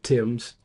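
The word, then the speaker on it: Thames: at the Battle of Tims. Um, I don't know if they pronounce it ths in Canada or not. I don't know either. I think it's Tim's River just like it would be in London.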